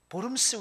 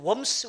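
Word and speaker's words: Worms: 그래서 그렇게 얘기하잖아요 어디더라 보름스 회의 영어로 따지면 웜스 웨이라 그러는데 독일하면 보름스가 V 발음이 나거든요 보름스 웨이 보음 스에서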